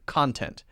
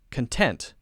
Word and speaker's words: content: content I love your content okay so the difference there for pronunciation is that we're stressing syllable 1 ah ah ah ok then with the adjective we're stressing syllable 2 content content I'm content I'm content